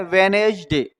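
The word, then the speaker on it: Wednesday: Resign direct बोल रहा है नहीं रिजाइन वेटनसडे इसको बोलते हैं वेनेज डे। तो वेनेज डे में क्या होता है? डी साइलेंट होता है। वेनेज डे। ठीक है? वे नेज और डे। इतना तो कंप्लीट है। तो क्या साइलेंट रहा इसमें? डी साइलेंट रहा।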